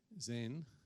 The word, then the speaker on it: Zain: Zain, even though it looks like an I, but it's pronounced Z.